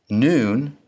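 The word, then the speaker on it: נ: Noon sounds like the N in now.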